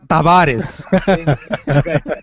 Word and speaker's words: Tavares: is is silent no the t is not silent in Taris it's John Tavaris first of all is pronounced Tavares ready ready I'm I'm